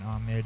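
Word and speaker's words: Ammit: And Amit is spelled A-M-M-I-T, and Maat is spelled M-A-A-T.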